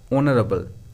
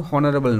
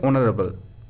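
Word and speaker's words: honourable: এই যে উচ্চারণটা অনারেবল। উচ্চারণটা কিন্তু হনারেবল নয়। উচ্চারণটা হবে অনারেবল।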